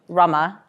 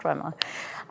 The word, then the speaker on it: Rema: And thank you as well to Ivan who introduced me and said my name correctly because it's pronounced nothing like it's spelled Rama. Not dreamer, not drama.